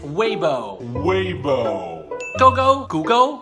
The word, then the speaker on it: Weibo: we boy human muck believe it or not is Weibo Weibo go go go